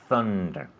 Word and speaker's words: thunder: Thunder with TH. Thunder.